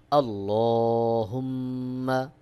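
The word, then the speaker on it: اللهم: হা মিম পেশ হুম মিম জবর মা মিমে তাশদিদ রয়েছে এখানে অবশ্যই আপনাকে ওয়াজিব গুন্নাহ করতে হবে সহি উচ্চারণ হলো আল্লাহুম্মা আমজা নুন জবর আন তা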